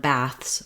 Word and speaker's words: baths: the spelling is different also in the word bath singular and baths plural we have the a vowel like in cat um so you can